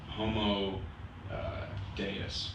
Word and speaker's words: Homo Deus: of humanity sapiens and Homo Deus homo Deus I believe is how it's pronounced and then the third